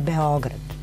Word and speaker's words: Beograd: Naprimjer, evo možda najsveži, svi izgovaraju Beograd, Beograd, Beograd. Najjednostavnije je Beograd. To je kratko uzlazni akcent na ovome O. Tako Beograđani izgovaraju.